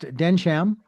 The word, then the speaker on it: Densham: uh want to let our listeners know that uh we are talking uh with and it is pronounced Denam, correct?